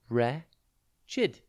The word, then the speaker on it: wretched: tv today's word is wretched it's pronounced re chid and it is spelt w r e t c h e d think wretch and then